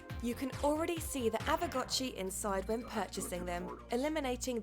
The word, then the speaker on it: Aavegotchi: Now that I know how to say it, Aavegotchi.